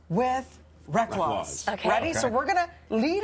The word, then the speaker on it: Reklaws: inspired us we're gonna play a little game rhymes with wreck loss ready so we're gonna lead up a sentence